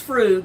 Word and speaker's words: frug: If someone is doing the frug, pronounce frug, F-R-O-O-G, what are they doing?